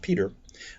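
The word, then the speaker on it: Petre: Related to the Stortons, the Norfolks, the Arundels, the Petrie family, pronounced Peter, was highly esteemed by the Society of Jesus.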